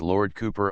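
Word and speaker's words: Cowper: Lord Cooper we we are often assured is Lord Cooper on this principle Lord cie would certainly be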